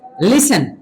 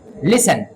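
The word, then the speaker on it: listen: लिसन बहुत सारे लोग लिसन बोलते हैं जो कि गलत है। लिसन और एच यहां पे साइलेंट और थंब बी यहां पे साइलेंट।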